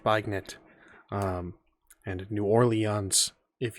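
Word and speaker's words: beignet: antagonize and you know poke the bear it's pronounced bagnet um and new orleans if you would kindly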